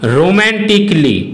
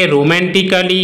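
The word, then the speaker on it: romantically: Rule 3, কোনো ওয়ার্ডের শেষে এ লেটারটির পরে যদি ডবল এল ওয়াই থাকে তখন কিন্তু এ লেটারটির উচ্চারণ সাইলেন্ট হয়। যেমন রোম্যান্টিকলি ফিজিক্যালি।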